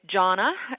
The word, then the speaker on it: Gianna: it's you know it's it's said so many ways Gian if you're in Italy it's Janna and um and in